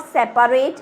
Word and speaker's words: separate: you the spelling of separate is actually, when we pronounce it we say separate. We don't, the A is silent here, but in spelling it should be separate.